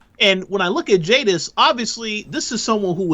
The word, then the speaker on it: Jadis: so uh so yeah her name is is jadis that's it this is how you